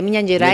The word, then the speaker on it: Minas Gerais: pero él es de Minas Gerais, ¿está bien pronunciado? Sí. De Minas Gerais.